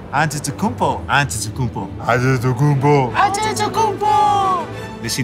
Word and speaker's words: Antetokounmpo: We're the only ones that can pronounce our last name. Antetokounmpo.